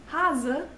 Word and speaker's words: Hase: Or in Hase, it's a Z.